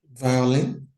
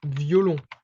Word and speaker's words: violon: Violin. Violin, okay. So how would you try to pronounce that in French? It's almost the same thing. Violin. Almost. Okay, it's violon.